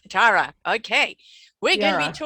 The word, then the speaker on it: Chiara: Is that the right pronunciation, love? Chiara. Chiara.